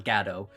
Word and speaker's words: Godot: I'm interested because you say it Godot, and I did not know there were two ways of pronouncing it.